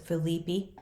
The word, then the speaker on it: Philippi: raise yourself some animals this is Philippi West Virginia somebody might pronounce it Felipe depends on how you're going to pronounce it I guess and pardon me if